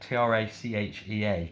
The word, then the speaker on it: trachea: It's a funny word, isn't it? T-R-A-C-H-E-A, trachea.